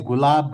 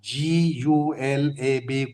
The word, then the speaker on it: Gulab: The author's name is Gulab Rao Maharaj. G U L A B Gulab. Okay. G U L A B Gulab. Gulab Rao Maharaj.